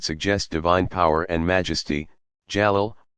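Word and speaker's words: جلال: divine power and majesty jalal pronounced j-a-l-a-a-l and those that speak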